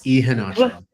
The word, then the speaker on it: Ihenacho: My guest tonight is Ihenacho. Did I do that right? Ihenacho. Close. Ihenacho.